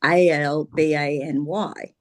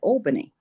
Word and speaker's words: Albany: And it's it's spelled A L B A N Y, which, you know, for me I would pronounce that Albany.